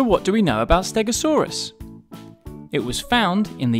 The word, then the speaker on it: Stegosaurus: about Stegosaurus how do you say that again stay go saw Russ can you say it with me stay go saw Russ so what do we know about Stegosaurus it was found in the United States and